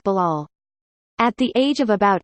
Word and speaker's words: Bilal: that one teacher would call me B I would think that's not my name that's not how you pronounce it I couldn't understand why he couldn't pronounce a name like Bilal at the age of